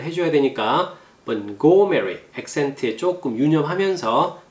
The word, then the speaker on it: Montgomery: T가 발음이 안 되죠. 근데 자세히 들어보면 들리나요? 약간 원래는 발음이 안 되는데 발음 소리가 잘 들리지 않아요. 근데 원어민들은 T를 발음하는 곳에 정확하게 혀가 딱 들어가 있어요. 그래서 우리는 발음이 안 되는 것처럼 들리지만 사실은 혀는 이미 발음을 하고 있다라는 거죠. 소리만 안 날 뿐이에요. 그래서 캐치하는데 조금 어려워요.